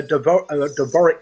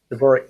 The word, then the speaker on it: Dvorak: What about a Dvorak keyboard? That's the one I was actually trying to think of. Bev, I didn't know how to pronounce the word. Dvorak keyboard.